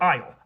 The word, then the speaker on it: isle: them did, which means at some point we decided to artificially add in a silent letter to all of these words. Why? It all has to do with the word isle, I-S-L-E, which originally comes